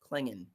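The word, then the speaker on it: Clingan: believe Donovan's last name is pronounced Klingon. I should know this. He's a UConn guy. Klingon.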